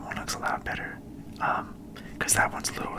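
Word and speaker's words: う: turned you'll see so this is U for you it's just like this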